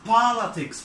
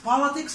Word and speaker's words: politics: Politics. Politics معناها السياسة. هنا هنعمل ستريس على المقطع الاولاني. On the first syllable.